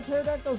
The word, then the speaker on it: pterodactyl: Why can't you hear a pterodactyl's urination? The P is silent.